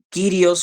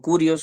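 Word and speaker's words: κύριος: eh está el otro título que es kirios o curios usted lo puede pronunciar eh según el eh la pronunciación de de Erasmo del o o o actual del griego actual no entonces eh señor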